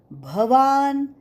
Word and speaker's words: भवान: कृप समितीजय अश्वत्थामाविकर्ण सदतीतव भवान बहुत लोग भ की जगह ब का उच्चारण करते है भगवान वाच भवान ब नाही भवान भवान भीष्म भवान भीष्म